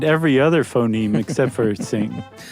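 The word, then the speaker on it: Qing: Uh Q may be roughly pronounced as TS. Not exactly the same. So just say sing next time.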